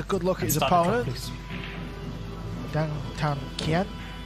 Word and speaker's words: Dang Thanh Kien: Thanh Kien, if that's pronounced correctly. Yeah, we got some clarity on that before the match, so I'm told that is exactly how it's said.